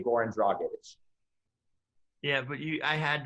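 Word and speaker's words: Dragić: say his name it's they say dragic when it's grown on druggage is not that hard to say jesse i'm sorry i say like people say like it's bragging the whole thing is four syllables you can't figure that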